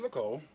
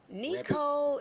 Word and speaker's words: Nico: So, your name's Nicole. Nico. Nicole. Nico. Don't let Okay. No, you're good. Nico. It's spelled Nicole, but it's Nico.